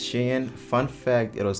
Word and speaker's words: SHEIN: yes for those who are asking it's actually pronounced shin fun fact it was called shi insider before